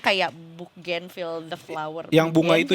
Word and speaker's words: Bougainville: Namanya adalah Bougainville. Ini kalau nggak salah sih cara bacanya kayak Bougainville the flower.